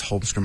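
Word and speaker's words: Holmström: Uh Thomas Holmstrom, I believe is how you pronounce his name.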